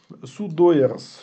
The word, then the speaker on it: sudoers: Они хранятся в файле etc sudo, sudoers, или как он правильно читается?